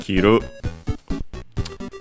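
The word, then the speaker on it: 着る: That one is a unacented kiru and it's a brew verb.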